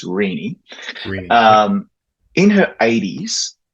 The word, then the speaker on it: Renee: Renee Murray, and I've said her name correctly because it's spelt Renee, but it's actually not Renee. It's Renee.